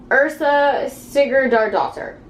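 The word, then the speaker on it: Yrsa Sigurðardóttir: back of the book uh her name is ursa sigurd our daughter according to the back of the book that's how you pronounce this name ursa sticky jar doctor um and this is supposed to just be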